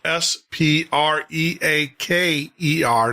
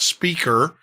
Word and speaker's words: Spreaker: sign up to Spreaker, that's spelled S P R E A K E R, not speaker, but Spreaker. There's an R in front of the E.